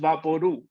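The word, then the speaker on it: Vaporú: vaporu no vaporu papodu is pronounced vaporu like loud or true the label for vaporu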